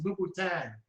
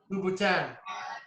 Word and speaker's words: Louboutin: She knew what you were talking about because you pronounced it Louis Vuitton. It's Louboutin. Is that, what is it? You pronounced it Louis Vuitton. Oh, my goodness. Hey, how do you say it right? Louboutin.